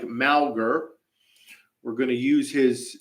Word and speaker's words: Mauger: cowboy State daily for clarifying the pronunciation looks like malgar we're going to use